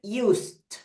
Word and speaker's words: used: So we said, we get used. Used. Y se pronuncia solamente esa D final, que es cuando, porque